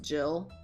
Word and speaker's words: Gil: i figured out that that's probably pronounced jill it just [ __